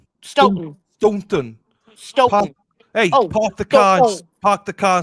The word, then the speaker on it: Stoughton: it's called Stoughton. So don't pronounce your T's. So Stoughton. Stoughton. Don't pronounce the second T.